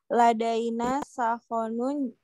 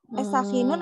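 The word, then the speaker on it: سخان: Sakhinun apa sakhon? Ada yang mau kasih tahu ini apa cara bacanya? Sakhinun atau sakhonun? Sakhin. Ya, siapa yang mau kasih tahu? Apa ini? Sakhinun atau sakhonun? Sakhonun. Santi. Sakhonun ya Kak Putri.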